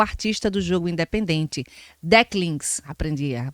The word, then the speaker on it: Decklings: Começando com arte de fã na internet, Lucas é o artista do jogo independente Decklings, aprendi a pronúncia direitinho, e acabou de lançar uma demo.